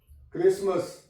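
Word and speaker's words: Christmas: verb है listen य पर टी साइलेंट है क्रिसमस टी साइलेंट है य ये लफ जी यू आर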